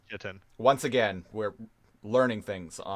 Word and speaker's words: chitin: Oh my god, is that how that word is pronounced? Chitin? I hear everybody say chitin.